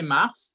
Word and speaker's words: Mars: Oui, c'est Mars. C'est quoi? La S se prononce.